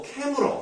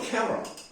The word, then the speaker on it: 카메라: 그럼 이거를 발음할 때 어떤 식으로 발음하나요? 사실은 뭐 캐물어 뭐 이런 식으로 발음하는 거예요. 캐물어. 근데 이렇게 쓰지 않아요. 왜? 옛날부터 카메라라고 썼기 때문에.